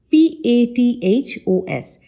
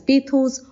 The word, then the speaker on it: pathos: Now posos spells as p a t h o s it can be pronounced as paos or pathos however you please both are correct now we know that